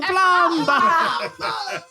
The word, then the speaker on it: plumber: You pronounced the B in plumber.